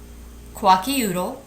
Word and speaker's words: Kwakiutl: Once again, the different tribes are Inuit, Kwakiutl, Nez Perce, Hopi, Pawnee, and Seminole.